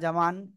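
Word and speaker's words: ج: চলে আসতেছে ক্যামেরাতে ওকে এই যে জিম অক্ষরটা জিহ্বার মধ্যখান তার বরাবর উপরে তালুর সাথে লাগিয়ে উচ্চারণ হবে সবাই পাঁচবার উচ্চারণ করেন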